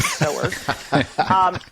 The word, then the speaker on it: sewers: It's spelled sewers, but I promise it's pronounced sewers.